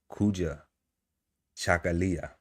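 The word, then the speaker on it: Kujichagulia: And it is pronounced Kua Chakalia, which means selfdetermination to define, name, create, full, and speak for ourselves.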